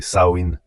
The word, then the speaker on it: Samhain: Les Selt appelaient ce festival Samein prononcé Saoin.